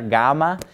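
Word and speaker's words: γάμμα: So like when we pronounce the name of the letter, gamma, it's pretty close to being a G. It's just a little bit softer of a G, almost like part way between a G and a Y.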